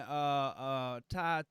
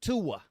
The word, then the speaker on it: Tua: And then they put in Ty Don't even mess it up. Don't even mess it How up. you say it? That That ain't how you say it. They put in Ty, right? Tua.